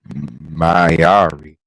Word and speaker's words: Mayari: She is the Divine Reaper, Mayari.